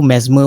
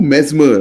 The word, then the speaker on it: Mesmer: Mesmer, right? Yeah, Mesmer. How do you spell it? MESMER, Mesmer, yeah. Like as in mesmerizer.